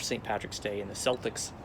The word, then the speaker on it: Celtics: don't know why they call the team the celtics not celtics but that's how it's pronounced for the sports team now i was